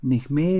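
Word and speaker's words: Nehmé: Necmé es el la manera como se pronuncia originalmente eh el apellido castellanizado Name.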